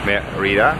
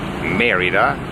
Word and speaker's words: Mérida: nine hours of the bus from polenka to meridah meridah I heard yes I have to pronounce it and behind us is our beautiful